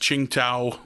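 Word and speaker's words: Tsingtao: drinking uh uh uh i think it's pronounced ching tau which was like their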